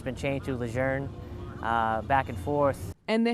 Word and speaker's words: Lejeune: to change back to calling the base camp luzerne and that it was pronounced luzerne wral news anchor Charles Gaddy did a story